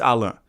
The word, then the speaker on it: Allan: Yes, that's how you pronounce his name. It's Allah, not Allan, even though sometimes I might say Allan.